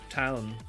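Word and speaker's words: tuin: And then garden is town.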